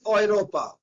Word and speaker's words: Europa: Okay, and also whenever in German E and U comes together, they sounds like OE. That is EU. OE. Example we are having, it is Europa. That is Europe. It is means Europe and it means sound is Europa.